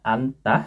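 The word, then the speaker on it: 앉다: Oh, ada contoh kosakatanya anta. Sekarang aku sedang anta. Anta ini artinya duduk, duduk. Jadi anta artinya duduk. Cara bacanya kayak gini, teman-teman.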